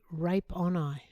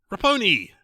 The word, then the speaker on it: Raponi: Anthony Rape on Eye. Rape on Eye? Raponi. Oh, Raponi. Mispronounced his name.